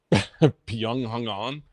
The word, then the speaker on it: Byung-Hun An: So can you pronounce Byung-Hun An? Byung-Hun An?